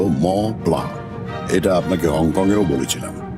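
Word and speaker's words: Mont Blanc: তা পাবো, তবে মন্ট ব্ল্যাঙ্ক নয় লালমোহন বাবু। এখন ইউরোপে এসেছেন, এখানকার দ্রষ্টব্যগুলোর নামের উচ্চারণ ঠিক করে করতে শিখুন। ওটা হলো ম প্লা।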